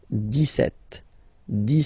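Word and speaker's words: dix-sept: Okay, so you don't insist on the S. 17, 17, 17.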